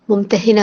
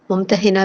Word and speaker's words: ممتحنہ: سے اس کا نام ممتحنہ رکھا گیا۔ اس کا تلفظ ممتحنہ بھی اور ممتحنہ بھی، یعنی وہ عورت جس